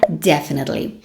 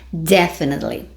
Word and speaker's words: definitely: palavra é a palavra definitely preste atenção na minha pronúncia porque a sua pronúncia importa isso mesmo vamos lá então the sílaba tônica stress na primeira sílaba definitely Vamos repetir de novo